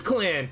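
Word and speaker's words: Clanne: 30 30 the Dragon it is Clan I was I was actually expecting it to be like framing clone or something and I'm so good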